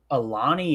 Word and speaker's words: Alani: Yeah, it's Alani.